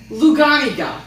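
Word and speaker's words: luganega: Isn't it Lugani? Yes, but I don't know how to pronounce that. Luganica. Luganiga. That's it.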